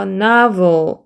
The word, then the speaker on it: novel: 내미고 this가 되는 거고 얘는 나 A 소리는 아 소리예요. 그래서 아의 강세 표시 있죠? 나. 그 다음에 V 발음이기 때문에 아랫입술에 윗니를 물고 이게 혀를 쭉 밀면서 진동 떨리는 소리로 이렇게 해서 vol 이렇게 되죠. 그래서 novel 이렇게 됩니다.